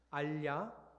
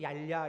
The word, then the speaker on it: 알야: 여러분은 발음을 잘 하네요. 알야. 저는 계속 얄야 이렇게 읽어갖고 저희 집에서는 같이 어제 성경을 읽지 않았습니다.